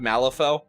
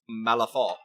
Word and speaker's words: Malifaux: Yeah, I'm a massive fan of Malifaux, Wilhelm. So that I know the X is silent when you do French because Malifaux.